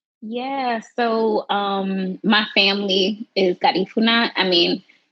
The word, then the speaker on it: Garifuna: Yeah, so my family is Garifuna. I mean, that is the way you pronounce it is definitely like Spanish way. It's also Garifuna. People have say it in with different accents in different way, but essentially we're Afro-Indigenous.